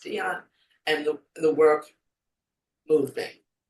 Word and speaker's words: Diane: Some people say Diane. I believe her name is pronounced Dion.